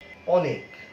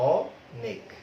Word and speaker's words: অনেক: একটাকে বলা হয়েছে যে অনেক, অ, লক্ষ্য করো উচ্চারণটা অ, তাই না? অনেক।